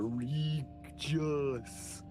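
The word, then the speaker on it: Rigus: city of Glorium, and the city of Regus, R-I-G-U-S. Really stretching the phonetics of those letters there. Regis.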